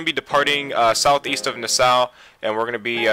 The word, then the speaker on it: Nassau: But first of all, we're going to be departing southeast of Nassau, and we're going to be departing from Rock Harbor.